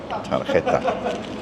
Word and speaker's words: tarjeta: Tarjeta. Because the J is an H.